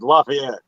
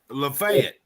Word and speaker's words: Lafayette: how y'all said i i can't say it like y'all yet lafayette lafayette yeah there you go everybody says it like that when they're not from here exactly it's lafayette everywhere in the world yeah yeah about say